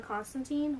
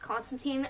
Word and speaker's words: Constantine: which this is, John Constantine, which I know comic-wise, it's actually not pronounced Constantine. If I remember correctly, it's Constantine, he says in the comics, but, like, everyone says Constantine.